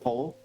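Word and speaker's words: Pól: And like, that makes sense, because the Irish version of Paul is Pole. P-O-L rather than P-A-U-L.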